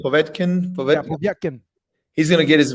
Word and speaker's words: Povetkin: Yeah, Povetkin.